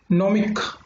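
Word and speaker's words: gnomic: कह सकते हैं इसमें, देखो नॉमिक। इससे वाली पहली वीडियो में मैंने आपको क्या बताया था, इससे पहली वीडियो में बताया था कि जी साइलेंट होता है।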